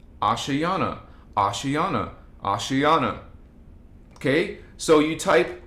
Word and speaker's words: Ashayana: and by the way I have people asking it's spelled a-s-h Ash a-s-h-a-y-a-n-a ashayana ashiana ashiana okay so you type ashiana voyagers one